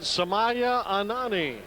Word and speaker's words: Sumya Anani: Well, you pronounce it Sumya Anani.